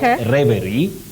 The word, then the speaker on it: reverie: So you say reverie. Reverie, not reverie, not reverie. The pronunciation is reverie. Reverie. It is. I would not have, guessed it. I probably would have said reverie or something, but there you go, reverie.